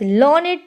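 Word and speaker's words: learned: पंडित court में आए we pronounce it एज लर्नेट to rhyme with क्रिएटेडटेड तो हम इसको लर्न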